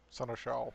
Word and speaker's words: Seneschal: Seneschal.